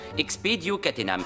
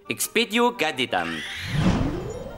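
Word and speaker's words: expedio catenam: dans le cas présent la formule magique se prononce expedio katenam veillez à vous en souvenir tout le monde a compris Bloom est-ce que vous voulez essayer oui expéio catenam maintenant regardez ce qui se passe si on prononce mal l'incantation expéio gadam vous voyez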